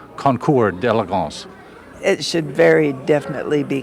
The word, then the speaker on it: Concours d'Elegance: I want to stop you when I noticed that you pronounced it concourse, but it's French, isn't it? And we make that mistake as Americans. Is it a mistake to call it concourse, or should it be Concours d'Elegance?